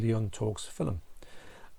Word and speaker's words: Leon Talks Film: Hopefully, I think I was talking to Leon Talks Film, and I will pronounce it Leon Talks Films, but it's actually Leon Talks Film.